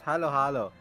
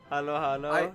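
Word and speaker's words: halo-halo: um Rivers is hello hello hello H it's Halo Halo Halo Halo I'm the best person to pronounce it it's Halo Halo Halo Halo um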